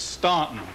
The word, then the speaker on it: Staunton: Now, I hear we usually know if you're a native or not if you pronounce it Staunton, and the U is silent.